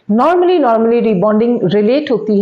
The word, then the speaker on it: rebonding: और एक कन्फ्यूजन जो स्पेलिंग्स की भी दूर करें, इट्स नॉट रीबाउंडिंग, इट्स अ रीबॉन्डिंग।